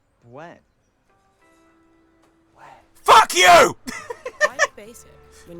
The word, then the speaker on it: Bueno: For Ben? Ben? Crispy wafer filled with creamy hazelnut, dipped in drizzled and delicious chocolate. Ben! Actually, it's pronounced Buen.